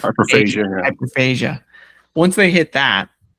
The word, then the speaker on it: hyperphagia: How do you say that? Phagia, I believe. Hyperphagia.